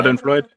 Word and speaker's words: Schadenfreude: Schadenfreude?